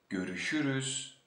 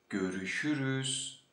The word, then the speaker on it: görüşürüz: So, as you see, my mouth is always open and round while pronouncing it.